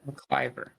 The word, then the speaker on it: MacLiver: Today we do have a special guest, Jerick Jared Mcliver. Mclver, is that how you pronounce it? Mccyver.